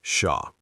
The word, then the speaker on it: Xia: You can say, "My name is Xia." You can call me Sha.